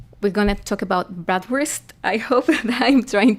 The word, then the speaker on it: Bratwurst: First of all, we're going to talk about bratwurst. I hope that I'm trying to pronounce that kind of correctly.